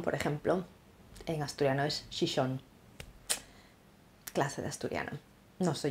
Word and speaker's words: Xixón: Y Gijón, por ejemplo, en asturiano es Xixón.